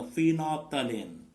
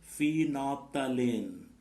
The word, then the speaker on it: phenolphthalein: The two synthetic indicators are, first one is a methyl orange indicator, and the second one is a phenolphthalein. What the pronunciation? Phenolphthalein.